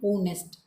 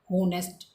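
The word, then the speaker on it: honest: Pronunciation नहीं देखी और प्रोनाउंसिएशन थी ऑनेस्ट, एच को साइलेंट कर रहा था वो, राइट। लेकिन हमने कैसे पढ़ा इसको, होनेस्ट।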